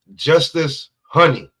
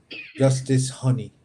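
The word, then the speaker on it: Justis Huni: Is Justice Honey, because it's spelled Justis, and then his last name is Huni. And I don't know. So that's how I go. So and then Huni. Huni. Justice Honey.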